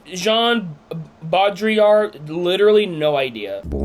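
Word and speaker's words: Baudrillard: I can't pronounce his name. It starts with a B. Jean Bodriar.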